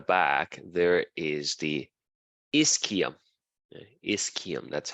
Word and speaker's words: ischium: then at the back there is the ischium is Kim that's how you pronounce it so that that Ilium the ischium